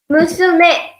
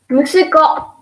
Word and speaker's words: musume: So for daughter, we use musume, musume, musume. Again, I will again repeat the pronunciation. Musume, musume. Then for son, we use musuko, musuko, musuko, musuko.